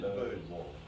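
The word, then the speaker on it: Bose: B-O-S-E, bows. Yeah, you say bows.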